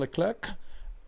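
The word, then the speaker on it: Leclerc: charl has clarified that you do pronounce the C okay he has and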